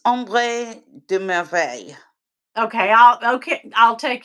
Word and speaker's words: Ombre de: you say it it it's om de okay I'll okay I'll